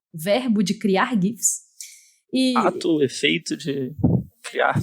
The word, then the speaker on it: GIF: No alto-falante lá pra ver a pronúncia, no dicionário fala GIF. Então, assim, eu tô entendendo, porque realmente o criador fala que é GIF, né? Mas parece que ambas são aceitas, né?